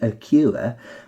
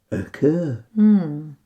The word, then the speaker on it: occur: a u and say a cure on this occasion it combines with the r to make an er sound like so occur and the last way